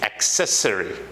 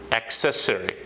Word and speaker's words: accessory: this as necessary but there's again wrong it's accessory accessory a K that is the first sound of